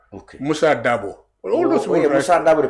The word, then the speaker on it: Dabo: My late brother, Seni Dabo. Okay. Musa Dabo. All those Musa Dabo, the politician. Oh yes, they all D-A-B-O is a standard. It's a standard and is phonetically well founded.